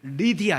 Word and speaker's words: 루디아: 여성입니다 그 이름이 바로 루디아 이었습니다 다른 성경이나 다른 어 그 개털 여기는 다른 글에서는 루디아 를 어떻게도 발음을 하는 걸 리디아 이렇게도 바라보라 루디아 리디아 같은 쪽으로 이해를 할 수가